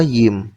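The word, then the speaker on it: ים: Yim, Yud yang kayak tanda petik ketemu mem sofit yang kayak roti tawar. Dibacanya apa? Yim.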